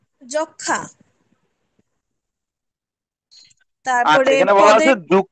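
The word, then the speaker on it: যক্ষ্মা: যুক্ত ব্যঞ্জন বর্ণের সঙ্গে সংযুক্ত মফলার কোনো উচ্চারণ হয় না, তবে সামান্য অনুনাসিক হয়, যেমন যক্ষা।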